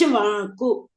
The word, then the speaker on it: Ikshvaku: pronounce. Ikshvaku.